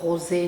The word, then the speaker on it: Rosé: Anh ấy đã chọn Rosé, phát âm là "Rosé" trong tiếng Pháp, mọi người ạ.